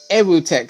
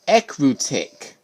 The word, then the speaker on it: Ecruteak: now entered equitec city i always pronounce this as aerotech city but it's called ecru tick or somewhat i don't know hi i'm